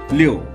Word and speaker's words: 六: 六 is a 4 tone, so we pronounce it 六六七 is 7 in Chinese, so we pronounce it 七七八 is 8 in Chinese.